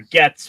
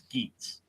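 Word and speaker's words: Geats: I've got friends who I talk with about Kamen Rider who will still call it Kamen Rider Gets when it's Geets.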